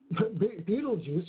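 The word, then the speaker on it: Betelgeuse: looks like shoulders right well actually beetlejuice or metal juicer that's a lot of you there's different ways to pronounce it literally translating is the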